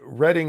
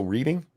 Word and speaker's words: Reading: uh thank you Frank reading is pronounced uh past tense So reading like the railway that doesn't help me